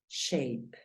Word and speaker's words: shape: Mírala acá, el sonido de la A es EI. Por lo tanto, la pronunciación de esta palabra es shape y significa figura, shape.